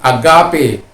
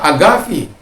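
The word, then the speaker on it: ἀγάπη: Tapi kadang-kala kita harus membaca seperti agape. Jadi kadang-kala kita juga terikut dengan agape kita, karena kalau saya ngomong begitu, tapi yang sebenarnya adalah agavi, sama dengan Irene, ya.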